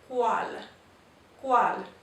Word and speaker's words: cual: Now, also, the letter U after the letter C makes the W sound, like our QU, only in Spanish it's CU that makes that sound. So this is cual. So whenever we see the CU, we know we're going to make what would be the English QU sound.